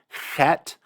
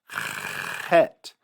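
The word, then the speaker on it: חית: So there is a difference between chet and chet, but you could even consider that dialectically different. Use whichever one is easier for you.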